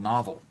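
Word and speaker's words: Knovl: got this um software called novel that it's spelled K N O V L.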